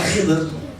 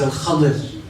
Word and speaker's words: Al-Khadir: It's not Khidr. The correct way to pronounce it is Al-Khadir.